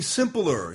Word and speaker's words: simpler: You just made the word a 2-syllable word 3 syllables. What was that? Is that a really simpler? Simpler. Simpler. You said simpler. Simpler. Cool. It's only 2 syllables, and you know how you know? Because there's only 2 vowels in the word.